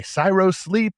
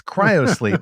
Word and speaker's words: cryo sleep: want to say i want to say cyro sleep gyro sleep i don't know what it's zach you're also hero sleep that just doesn't work it's cryo sleep is it not zack the correct pronunciation right cryo like cryogenics okay well i'm just